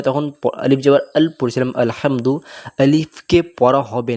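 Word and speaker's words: الْحَمْدُ: এই আলিফে জবর পেশু থাকে না কিন্তু আসলে আলহামদ আমরা এখান থেকে পড়া শুরু করি তো হাটা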